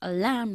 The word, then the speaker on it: alarm clock: Alarm clock. Enfatizando la segunda sílaba.